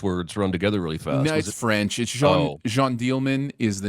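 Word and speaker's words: Jeanne Dielman: bunch of English words run together really fast Jean dealman is the name uh and it's uh j-e-a-n-n-e-d-i-e-l-m-a-n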